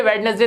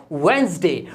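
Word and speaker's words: Wednesday: वेडनेसडे तो बहुत ही बोलते हैं सब, बुधवार को वेडनेसडे बोलते हैं, जबकि ये वेडनेसडे नहीं होता, इसमें डी साइलेंट होता है और ये बोला जाता है वेंसडे।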